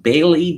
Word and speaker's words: Bayleigh: Her inability to properly participate in Blackout Tuesday sparked an argument with her black castmates Bailey Dayton, and Bailey, of course, is spelled Bayleigh.